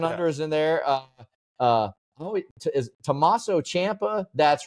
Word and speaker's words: Tommaso Ciampa: Is Tommaso Ciampa? That's right, because sometimes I say Ciampa. Tommaso Ciampa, or is it, which one is it? Tommaso Ciampa. No, it's not. Tommaso Ciampa.